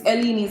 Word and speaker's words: Eleni's: It's Eleni's.